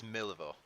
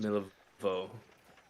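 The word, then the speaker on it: Milivoj: It's Milivo, is how it's pronounced. Milivo. Okay. The J is kind of silent.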